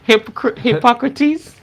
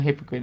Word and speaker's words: Hippocrates: Um, Plato, Plato, Socrates, Socrates, Hippocrates. What's his name? Oh wow. Hippocrates. Hippocrates. Go look and see how they did things, right? I call him a hypocrite. No, his name is not hypocrite. It's Hippocrates.